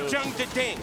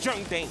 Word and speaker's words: Jeondding: It's not Jeondding. It's Jeondding. There's 2 Ds, but it's a silent one.